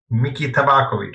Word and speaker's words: Miki Tabakovic: How do you pronounce it? Miki Tabakovic, so it was pretty close.